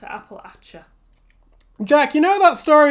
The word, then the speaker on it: Appalachia: We pronounce it Appalachia.